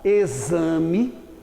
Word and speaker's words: exame: Na palavra exame, o X tem um som de Z.